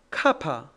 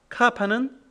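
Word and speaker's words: κάππα: 요타는이이 발음 나옵니다 다음 카파 카파는 크 크 발음이 나옵니다 람다 람다 람다는 러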